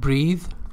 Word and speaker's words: breathe: It's not breathe. Pay attention, the pronunciation is different. This is breathe as a verb. This is breath as a noun.